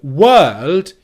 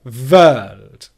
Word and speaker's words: world: So instead of win, you get vin. Or instead of wôæld, you get vôæld.